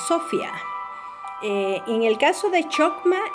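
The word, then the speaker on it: σοφία: Y la palabra nos dice que viene del hebreo, que se pronuncia chokma, y del griego, que se pronuncia sofia.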